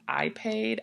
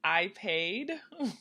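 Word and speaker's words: Ipade: in particular called I I think it's pronounced I paid i p a d e and it's a black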